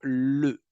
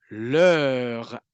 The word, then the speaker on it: leur: Donc, l'oreille hispanophone va peut-être croire que le mot qui est dit, c'est simplement le. Mais non, leur.